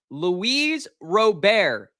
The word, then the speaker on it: Luis Robert: Luis Robert.